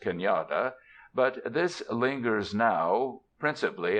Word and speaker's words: cañada: A shallow valley is cañada, pronounced cañada, but this lingers now principally as a geographical designation, and it is doubtful if many white Californians know what it signifies.